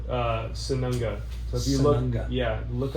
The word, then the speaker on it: Sununga: But yeah, it's called Sanunga. So if you Sanunga. look up on YouTube the Sanunga UST. So Sununga is how you spell it.